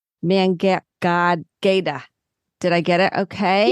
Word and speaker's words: Mangueira: Amy, and I want to make sure I say it right, Mangueira.